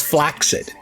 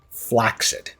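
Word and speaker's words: flaccid: By the way, the word is flaxid.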